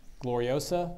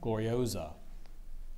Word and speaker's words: gloriosa: 3 met in height are there any alternate pronunciations gloriosa gloriosa gloriosa can I have the